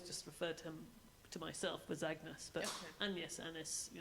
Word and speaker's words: Agnes: Well, I think then it was pronounced closer to the French, which is Agnes or Anis.